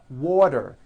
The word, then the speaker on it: water: water is pronounced as water the t turns into a d and the whole word is voiced water I want water